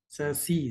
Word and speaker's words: SASE: SASE, they say SASE, pronounced as SASE.